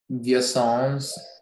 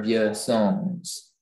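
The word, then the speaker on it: Vieussens: repeat the word again yes via songs of your songs or viewer songs can you repeat pronunciation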